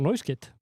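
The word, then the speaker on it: Pedro Neto: rosalega Hann heitir Pedro Neuskit Borið fram Neuskit Já, það er Silent S Neuskit Neuskit í nafnum Mamma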